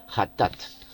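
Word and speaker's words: חטאת: Pronuncia ja, o la G en castellano, pero la CH en hebreo es ja, hatat, ofrenda por el pecado.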